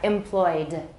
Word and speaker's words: employed: So how do we pronounce this, everybody? How many syllables? 2. Correct answer is 2, not 3. All right, employed.